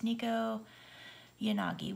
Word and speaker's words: Nekoyanagi: I had never really looked up the pronunciation, but it's Nekoyanagi, which is pretty, pretty purple.